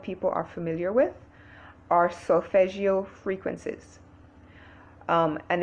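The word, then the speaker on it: solfeggio: a lot of people are familiar with are solfegio frequencies um and it's spelled s-o-l-f-e-g-g-i-o and i listen to different frequencies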